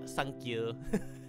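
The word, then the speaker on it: サンキュー: don't know three nine you can uh pronounce three as son and you can pronounce nine as q so a lot of people will joke saying 39 or sankyu it's also hatsune miku's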